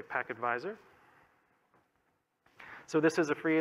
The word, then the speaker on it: pktvisor: packet visor project so it is spelled pkt visor but we say pac advisor so this is a